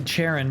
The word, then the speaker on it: Charon: should be Charon, but I don't know. They just always pronounce it Karen for whatever reason.